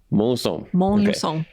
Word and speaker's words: Montluçon: Montluçon.